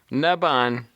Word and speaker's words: Narbonne: scale modeling page okay narbone narbone that's what I've been saying yeah I'm glad I pronounced itone narbone narbon here's the British pronunciation naban anyhow um the town